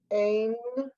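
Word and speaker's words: אֵין: Ain. Good. Okay, you don't pronounce the yud. The yud goes.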